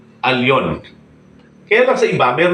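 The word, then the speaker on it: עליון: ng firm nilagay niya lon so itatama natin hindi lon alon Okay bakit alon Bakit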